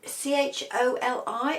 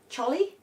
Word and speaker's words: choli: very helpful um so c h o l i I think I think I'm pronouncing it right choli cholly don't know anyway that's the